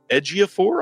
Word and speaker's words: Ejiofor: This is the 2006 really great movie starring Denzel and Clive Owen and Jodie Foster, Christopher Plummer, Willem Dafoe, Chiwetel Ejiofor, I believe is how you say his last name.